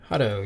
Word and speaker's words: Hutto: I don't know how you pronounce it, but it's an Austin area. Hutto, yeah.